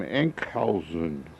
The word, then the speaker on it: Enkhuizen: Remember the name, Enkhuizen.